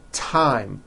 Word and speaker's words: thyme: Although these next words and names are spelled with a TH, they are pronounced as if they were spelled with a normal T, like that.